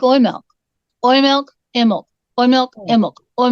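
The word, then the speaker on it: Oimelc: are celebrating today Hallelujah it's called oil milk and it is spelled colloquially oh I am e l c or k oil milk okay and when I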